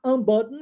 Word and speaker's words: unbutton: Então, se button é abotoar, unbutton é desabotoar, tá? E eu sigo o resto da palavra no mesmo esquema. Omito o som do T.